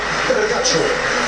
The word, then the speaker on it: Vergallo: Vergallo, demi-mêlée de l'Argentine que l'on retrouvera face au bleu. À prononcer comment Vergacho. Mais bon, en castillan.